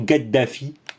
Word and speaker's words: Kadhafi: servi beaucoup alors oui kadhafi et thierry meyssan ou ou même stratégique à saint-quentin ils disent toujours toujours gueddafi nous sommes et la prononciation de l'arabe parlé voilà bien le talent